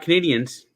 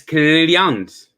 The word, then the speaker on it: Canadiens: no you it's not canadians it's canadians is it yes it's not canadians it's canadians spell with an e instead of an a and it's the french pronunciation for canadian well i'm definitely not